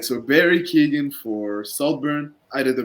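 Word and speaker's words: Keoghan: I say Ken but I've seen in interviews that he pronounces it like Keegan or Keegan like something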